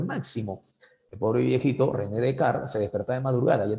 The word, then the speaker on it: Descartes: Sí, lo que pasa es que se pronuncia Descartes.